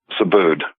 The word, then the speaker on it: Subud: Subud. Okay, it's spelled S-U-B-U-D.